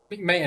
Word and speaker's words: McMahon: mcah mcah MC Noah McMahon that's how you pronounce it McMahon yeah McMahon defeated God and Shane